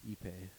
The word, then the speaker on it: ipe: a cool wood though the word pay is in it so you know it's expensive it's spelled ipe epay okay never mind i